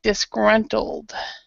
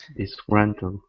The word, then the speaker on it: disgruntled: with the ending but in the middle you didn't really pronounce it so disgruntled disgruntled yeah I didn't hear he the L part but other than that